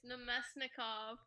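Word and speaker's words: Namestnikov: How do you say his name? It's Nemesnikov.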